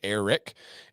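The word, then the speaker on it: Airrack: channel it's a guy by the name of Eric but it's spelled air rack Iraq Eric and his goal was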